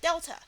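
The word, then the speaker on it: Δ: In other words, the triangle is pronounced at delta.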